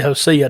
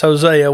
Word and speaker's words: Hosea: books of the Bible we didn't say josea Daniel uh so for for most folks it's Hosea we we know who